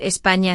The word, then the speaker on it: España: Evita decir España sin ñ porque suena raro. Practica ñ con la palabra año.